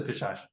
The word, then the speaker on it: Pishacha: Um, so I gotta tell you, like before viewing the film, I had no idea what am I pronouncing this right? Pishacha? Yeah, the Pishash.